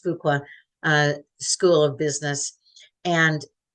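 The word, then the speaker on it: Fuqua: at Duke University's I I'm hoping that that's pronounced fuka uh School of Business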